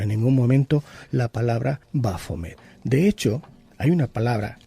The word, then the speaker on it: Baphomet: Se escribe como bois, fos, metis en este caso, y que leído en francés más o menos sería como Baphomet, es decir, Baphomet. Y esto significa vida, luz y sabiduría.